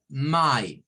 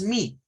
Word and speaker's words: my: Cuando la Y es la única vocal, suena a I. O sea, suena igual que esta. Miren, este sonido para esta Y es el mismo sonido de la I latina cuando está sola. My, es el mismo sonido. No es mi, es my, my.